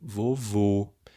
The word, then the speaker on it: vovô: o acento circunflexo tá o mesmo ocorre com o vovô o som forte a tônica no último vô e é um som fechado vovô aí eu tenho que